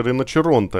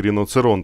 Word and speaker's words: Rinoceronte: в комментариях подсказали что правильно всё же произносится риночеронте а не Рино церон как я говорил но Извините в итальянском